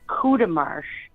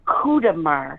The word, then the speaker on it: Courtemanche: It's a big French So it's like a family.